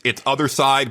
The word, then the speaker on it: Othercide: And it's kind of if listeners are going to look it up, it's Othercide, but it's spelled like homicide.